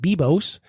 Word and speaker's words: Biblos: I found a piece of software in Italy called Bibos. It's spelled Biblos, but it's pronounced Bibos.